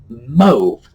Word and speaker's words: mauve: It's spelled like it's pronounced like it should be spelled MOVE, which of course we know is move instead, but mauve. Who would have thought? But yes, that is the proper pronunciation.